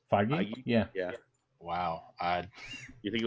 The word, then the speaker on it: Feige: After it was intentionally and unintentionally leaked, and then despite them saying that they weren't going to have a Spider-Man trailer, Kevin Feige did say that they were going to have one.